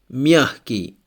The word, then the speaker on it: мягкий: In the words легкий, мягкий, G is pronounced like H. As you see, легкий, мягкий.